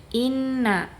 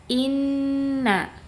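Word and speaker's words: إنّ: Jadi bacanya jangan inna tapi inna ya. Ditahan dulu bacanya ya. Sifat ghunahnya itu dia yang paling tinggi. Inna inna. Jadi jangan inna terus langsung ke kata yang berikutnya tapi harus ditahan terlebih dahulu gunahnya.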